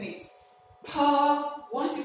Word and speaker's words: pa: and this one is pa. And please, this is an aspirated sound. Pa is an aspirated sound. When you're pronouncing it, there is a kind of strong air that comes out with the pronunciation.